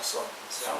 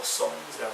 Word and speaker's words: Psalms: 미국 사람들 Psalm이라고 발음합니다. Psalms라고 하는. P는 발음하죠. 복음이고 Psalms라고 발음합니다.